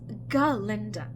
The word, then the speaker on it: Galinda: Please, it is Galinda, the proper old Gilliganese pronunciation, if you don't mind.